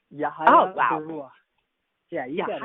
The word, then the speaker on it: Yahaya Baruwa: Yahaya Baruwa, tell me how I'm supposed to be pronouncing that, because I feel like I'm skipping. Oh, no, you got it right. It's Yahaya Baruwa.